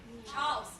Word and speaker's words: Charles: After everything I did for your father, everything I sacrificed, I just wanted to hear him say, Charles, one syllable.